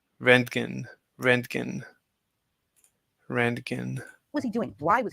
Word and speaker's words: Röntgen: What Everyone mispronounces his name. His name was Röntgen. Röntgen.